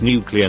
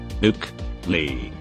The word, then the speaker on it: nuclear: It's nuclear, not nuke. Yup, AskReddit. Nuke. Lee. Is how it should be pronounced.